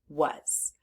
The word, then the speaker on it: was: was there are three sounds in the word was now let's focus on what makes this irregular